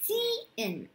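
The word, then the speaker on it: cin: operator and in cn you pronounce it as c in cn and it takes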